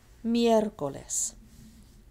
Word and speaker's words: miércoles: Miércoles. Miércoles. It's right here. Mier. And 1, 2, 3 syllables from the end of the word. That's why miércoles has an accent.